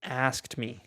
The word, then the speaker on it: asked: She asked me. Es más como, no pronunciamos tanto la K, ¿verdad?